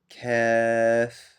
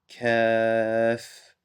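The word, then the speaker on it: كاف: This sounds similar to the K in English. So this is Kaaf. So it's called Kaaf, and the letter pronouncing the letter is Ka. Ka. Kaaf.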